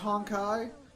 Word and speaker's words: Honkai: Zim, it's pronounced Honkai.